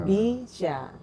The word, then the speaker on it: BYSA: Bya itu BCA, syya syariah. Jadi bacanya bisya.